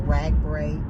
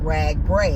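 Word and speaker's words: RAGBRAI: goals and and and things associated with the rag bra event oh and um I know someone had mentioned that it's pronounced rag br when I started the ride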